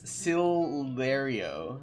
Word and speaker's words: Sillario: It phonetically it looks like it's very similar to your name, Solaire, but it's Sillario. Sillario.